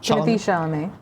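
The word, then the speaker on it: Timothée Chalamet: How do you pronounce his name? Timothy Chalamet.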